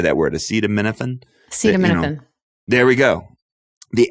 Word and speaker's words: acetaminophen: Acetaminophen?